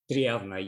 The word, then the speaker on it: Triavna: You got into art with your studies, National High School of Applied Arts in, how do you say it? Triavna? Triavna, yes. Triavna, okay.